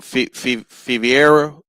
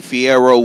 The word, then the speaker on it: Fierro: Um, Pitbull Cruz in the Fiviera fight, if that's how you say his name. Um, Isaac Pitbull Cruz bounced back and got him a win last night. Fierro, my bad, Fierro.